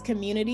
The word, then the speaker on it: Kemunity: Yes, and it's a play on Kemet, so it's Kemunity Yoga. K, it's not spelled like the normal community.